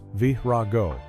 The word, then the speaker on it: Verago: In the early 1,992nd, an artist named Verago, pronounced Vraago, was a true fire brand.